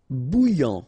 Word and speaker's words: bouillant: Bouillant, final T not pronounced. A-N together, remember, nasal, en, okay? And then here you get bou, alright? And after that you get this yan, okay?